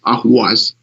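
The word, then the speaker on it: Ahvaz: And with the southern people and the way they pronounce Ahwaz, they say with the Arabic pronunciation or with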